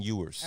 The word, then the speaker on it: Ewers: say his name again quinn ewers okay viewers e-w-e-r-s unbelievable talent i can't